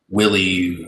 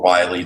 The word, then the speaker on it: Wiley: So the Wiley Townhomes were basically at the southern end of Duck Island, where Willie or Wiley, depending on your pronunciation, kind of splits into two rights of way.